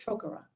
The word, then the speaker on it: Trocaire: So Trocaire, it's pronounced Trocaire.